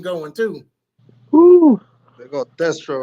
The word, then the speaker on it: Destro: You pronounce it Destro, right?